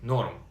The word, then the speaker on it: норм: Pronounced like норм.